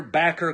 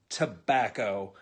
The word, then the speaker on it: tobacco: you're eating your homegrown mater's you're playing your backer crop well first of all it's pronounced tomahto and it's pronounced tobacco and that's a nasty habit that all of